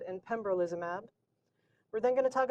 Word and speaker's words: pembrolizumab: One of the challenges of checkpoint blockade is pronouncing the medications. So it's ipilimumab, nivolumab, and pembrolizumab.